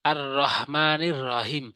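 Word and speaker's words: الرحمن الرحيم: অধিকাংশ লোক যেভাবে ভুল করে থাকে সেটা বলে আর রহমানির রাহিম অর্থাৎ হাঁটি আর রহের হাঁটি রহিমের হাঁটি একদম ছোট হাত বানিয়ে ফেলে যার কারণে অর্থ চেঞ্জ হয়ে যায় যেমন বলতে হবে আর রহমানির রাহিম আর রহমানির রাহিম রহ বড় হা উচ্চার করতে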